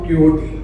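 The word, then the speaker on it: Quixote: मगर उसको प्रोनाउंस ऐसे करते हैं, मगर लिखते हैं डॉन DON, और क्वियोटे की जगह क्विकसॉट, QUIXOT। It's pronounced क्वियोटे बट इट इज क्विकसॉट।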